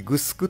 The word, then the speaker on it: 城: なんですけどあの城という漢字を確かにグスクとは読むんですけれどもただ人の名前で使うときは割と普通に白って読んでると思うんですけどねあのシロマさんとかでも地名になるとねグスクマって呼んだりするんですけど僕